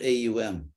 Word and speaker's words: Om: so as far as om om or omkara as it's sometimes called um phonetically um the word own is actually has three phonetic Elements which are AUM and and I mean